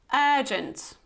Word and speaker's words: urgent: let's have a look urgent urgent so you see you have this long air hair like work okay word turkey urgent urgent okay so it's not urgent but urgent urgent repeat after me and